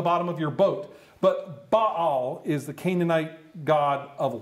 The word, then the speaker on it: Baal: And I know that you're used to saying Baal here, but my Hebrew professor taught me very well. He taught me better. He said, look, the way you pronounce it is Baal.